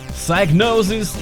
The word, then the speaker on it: Psygnosis: Psygnosis is the correct way to pronounce it.